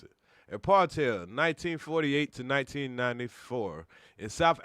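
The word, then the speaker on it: apartheid: quick okay a partel yeah that's how you pronounce it a partel 1948 to 1994 and South Africa was a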